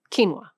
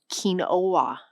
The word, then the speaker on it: quinoa: Quinoa spelled like this. Most English speakers encountering it for the first time in writing say quinoa. The actual pronunciation is quinoa.